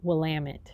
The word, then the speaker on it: Willamette: is actually the dalles or willamette which is pronounced willamette and for heaven's sakes never say oregon we're